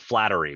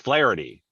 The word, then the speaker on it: Flaherty: spot i want to call it flattery but it's not it's flaherty right i mean yeah